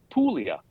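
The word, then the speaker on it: Puglia: and this is the this is pulia or I think in English it's called aulia but uh Italian spell it P u g l i a yeah and uh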